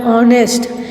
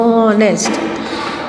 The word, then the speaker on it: honest: Then over here honest, here h is silent, the pronunciation becomes of o, so honest.